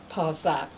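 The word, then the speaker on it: Pursat: The sound depends on, like, do you want to pronounce it in Cambodian way or Chinese way or French way, The Chinese would call Posat. The Cambodian would call Bosat.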